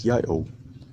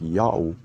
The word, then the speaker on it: Ya'oh: in that case but yayo has nothing to do with god's name and there is no other legitimate proof that his name is yayo god's name is pronounced yahoo according to the same